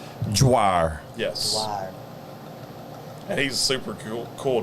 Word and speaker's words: Dwyer: from Brian Brian Dwyer I think it's Dwyer that's how you pronounce it I know how to spell it but I don't know how to pronounce it is it d-w-y-e-r it's d-w yeah that's exactly how it is dryer yes he's super cool